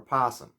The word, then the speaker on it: opossum: like opossum opossum opossum some people will stress the o and say opossum opossum but most people just say the oh real quickly so you can barely hear it and some people skip it entirely so you might hear